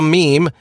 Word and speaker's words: meme: the new replicator a meme an abbreviation of the Greek word MIM and pronounced in rhyme with cream according to Dawkins human